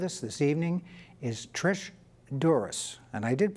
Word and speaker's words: Dzuris: this evening is Patricia Dzuris. And I did pronounce that correctly, yes, didn't I? you did. Thank you. Yes, there is a silent Z in there.